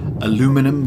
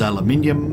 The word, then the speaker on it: aluminium: make another ammonia ammonium aluminum versus aluminium americans say aluminum and i am actually with them that they are probably right because the guy who